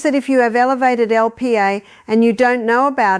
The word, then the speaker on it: Lp(a): The first blood test you need to know about is called Lipoprotein A, written as LPA and pronounced LP(a).